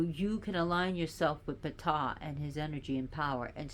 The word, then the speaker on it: Ptah: breathe the word of p and yes is pronounced PA not t this the p is not silent so P like you're spitting so it says that